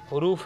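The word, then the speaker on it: حرف: बाज़ लोग इसका जो तलफ़ुज़, प्रोनाउंसिएशन निकालते हैं, हरूफ का निकालते हैं, जबकि हर्फ की जमा हरूफ है।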